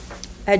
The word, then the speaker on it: a: A general idea rather than a particular thing. Our examples for the indefinite articles would be the words a and an. The letter A, but it's pronounced as the schwa.